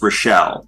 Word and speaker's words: Raichel: and last it's spelled really weird, but it's Rochelle, Okay. like New Rochelle.